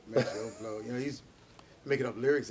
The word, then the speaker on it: Maceo: And sometimes I wonder did you say Maceo because it kind of rhyme with blow, Maceo blow.